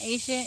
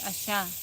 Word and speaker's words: Asha: No, it's not Asia. It's Asha.